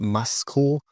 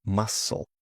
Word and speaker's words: muscle: Now, for the silent C. This often happens before the letter K or in some SC words. For example, muscle. Muscle. Okay, not muscle, but muscle.